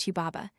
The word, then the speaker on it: Hubaba: of the cedar forest, Hanbabet, probably pronounced Huba, 27, as the name appears in the old Babylonian version, Hiwa.